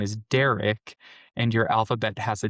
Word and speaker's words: Derek: R sound, and yet instead of just saying the D and the R sound, you decide to say, "Oh, Barrick." Or Bedrick. Be like, no, I said Derek.